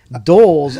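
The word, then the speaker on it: dhole: d hole it's like doles are dogs d-hole pronounced dole d-o-l-e is also known as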